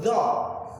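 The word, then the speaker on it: ظ: Jadi huruf dho itu cara menyebutnya adalah lidah ditekan ke gigi atas, maka hingga melahirkannya itu dho.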